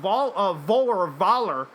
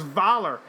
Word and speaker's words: Voller: Mikkelsen said his Nazi villain Voller, I think the actual German pronunciation is Valar, is quote unquote a man who would like to correct some of the mistakes of the past.